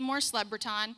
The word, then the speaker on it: LeBreton: my name is Mor leaton and it's pronounced like leprechaun with a B you can save the